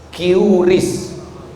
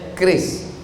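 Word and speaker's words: QRIS: Curis. Cara bacanya keris.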